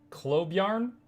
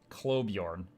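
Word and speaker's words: Klobjarn: what it says uh pronounce pcee the name clob yarn clob Bjorn which translates to claw bear in Old Norse clob Yorn oh my gosh sorry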